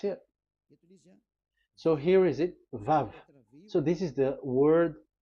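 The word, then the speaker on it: ו: We called it as Vav. Vav. Your claw, your mouth is like closed. Vav. So it's V as in Vogue.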